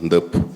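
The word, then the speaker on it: Ndeup: Y en Senegal también creemos al NDEP, que le podéis mirar por internet. Se llama NDEP, se escribe N-D-E-U-P.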